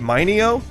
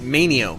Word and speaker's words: Manio: for us last week is it minio oh it's manio oh okay Abby manio